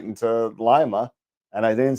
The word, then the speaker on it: Lima: Every time I say Lima, I think the bean. Lima, I think Peru. Yeah. Well, the Lima bean is the city's mascot too. There you go. That's a good way to remember the pronunciation then.